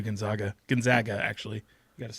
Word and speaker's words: Gonzaga: Gonzaga, actually.